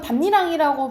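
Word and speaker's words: 밭이랑: 돼요 어 그래서 어 말 그대로 왜 이거는 반니랑이라고 발음 합니까 이렇게 이제 물어보면 아 랑이라는게 어 랑이라는게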